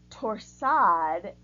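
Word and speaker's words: torsade: be contrasting in colors this is a French word pronounced torsad from the Latin word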